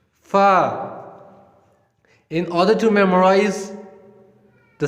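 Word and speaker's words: فاء: The next letter is fa, fa, fa. This is the easiest one. The same like we pronounce in English, like a letter which is F, F for fish.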